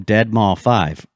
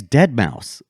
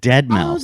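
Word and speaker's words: deadmau5: So it's not his name's Dead Mouse. You pronounce it Dead Mouse. Oh, the number 5. MAU 5 is a S. Yeah, it's pronounced mouse.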